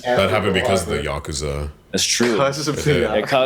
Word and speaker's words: Yakuza: And It's pronounced Yakuza, not Yakuza. Stop saying that, and Jab.